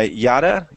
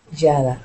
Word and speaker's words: Jada: Is it Yada? Am I pronouncing it right? It's Jada, isn't it?